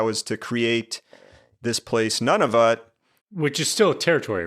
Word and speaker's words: Nunavut: saw a territory called Nunavut. I had literally not heard of this place. So Not none of it, but none of us. yeah, I don't know if I'm pronouncing it right, but it's Nunavut.